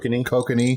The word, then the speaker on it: Kokanee: Kokanee.